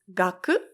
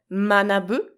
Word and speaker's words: 学: study learning science so the Chinese pronunciation is gaku and the Japanese pronunciation is manabu which is a verb